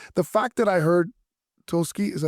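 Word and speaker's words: Tulsky: the this is the fact that I heard toski is that how you say his name yeah Eric toski say that yeah we think he's going to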